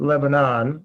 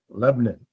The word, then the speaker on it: Lebanon: Not Lebanon, even though it's spelled like that. Lebanon.